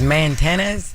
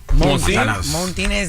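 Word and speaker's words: Montanez: No, it ain't ain't no R in it. It's spelled M O N T A N E Z. Montinez.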